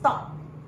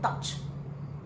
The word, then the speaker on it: taught: This word is taught. If you like to be very clear with your T, taught, a soft one, taught. Please listen to my pronunciation and don't make mistakes, because I tell you, many students stand in front of me and say touch. Our teacher touched us. And I say, no, it's taught.